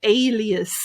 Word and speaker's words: alias: we've got the word alias and the pronunciation is a alias alias you try well done alias so the part in capital letters we want to say a bit louder try again alias perfect